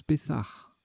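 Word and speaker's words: pessah: Pessa, ça se prononce Pessar, d'accord.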